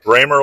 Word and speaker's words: Bremer: Bremer like Kramer. We got the German pronunciation right.